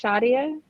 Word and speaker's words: Shia: as well uh mark my name is pronounced Shia sh I'm sorry I my